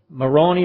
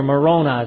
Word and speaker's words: Moroni: Moroni or Moroni is probably the best way to pronounce it.